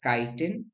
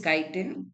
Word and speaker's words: chitin: Going ahead, you have something called as chitin. People pronounce it as chitin also.